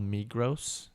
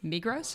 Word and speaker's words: Migros: So I guess in that region is Migros. Is that how you say it? Yeah, Migros.